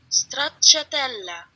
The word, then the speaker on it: stracciatella: My favorite gelato flavor here is hard to pronounce. It's stracciatella? Let me ask Siri. Let's see. Stracciatella, Italian.